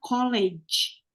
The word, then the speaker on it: colleague: Jadi pronunciation-nya adalah colleague. Colleague ya. Kalau sekolah yang tadi tuh kayak Mang Iding D3 ya, itu namanya college.